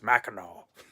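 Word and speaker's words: Mackinac: mainland of maau Island it's spelled like maak but the locals there were just like no you can't say it that way it's Mao okay just in case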